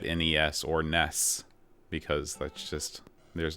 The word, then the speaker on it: NES: say the UK you you pronounce it Nez like with a z but we always said NES or Ness because that's just there's